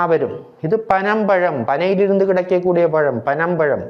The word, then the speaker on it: பனம்பழம்: சுழி நா வரும் இது பனம் பழம் பனையிலிருந்து கிடைக்கக்கூடிய பழம் பனம் பழம் இரண்டு சுழி நாம் சொல்லும்போதும் நா என்று தான் சொல்ல வேண்டும் பணம் பழம் என்று என்று சொல்லக்கூடாது பனம்பழம்